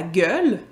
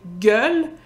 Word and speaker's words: gueule: Mais en plus, au Québec, on prononce le mot « gueule ». La prononciation, en fait, les étapes de la prononciation, c'est « gueule », qui est devenu un peu plus traînant.